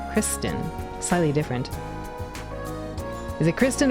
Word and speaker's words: Christin: Admittedly, I have mispronounced Adol's name as Christian when it's, Christin.